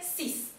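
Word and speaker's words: six: Entonces, la palabra sola, 6, se dice sis. En cambio, cuando hace contacto con otra, con una vocal, se va a decir 6 ans, ¿sí? Se está pronunciando como una Z.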